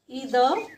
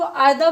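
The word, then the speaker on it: either: तो सेंटेंस होगा इदर इसको आइदर भी पढ़ा जाता है। आयद या इदर दोनों ही प्रोनाउंसिएशन इसकी ठीक है। आप इदर या आइदर कुछ भी बोल सकते हैं।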